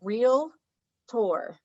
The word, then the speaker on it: realtor: people know to pronounce realtor correctly think of it as real tour realtor what what did i say realtor realtor a few times like there's